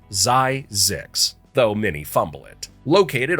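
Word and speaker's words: Zzyzx: Yes, that's a real place pronounced Zyzix, though many fumble it.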